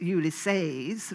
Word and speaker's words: Ulysses: day described in ulysses which they pronounced ulysses rather than ulysses as i had always done was never going to